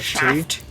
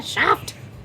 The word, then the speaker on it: Schaft: I'm sorry if I'm mispronouncing that. Django. In Wow, Django sorry. Untamed is named Brunhilde von Schaft, S-C-H-A-F-T. Shaft.